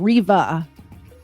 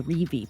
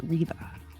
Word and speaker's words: Reve: I keep mispronouncing. I put phonetically how to say her name, Riva. It's spelled Reve, so I keep wanting to say Revi, but it's pronounced Riva.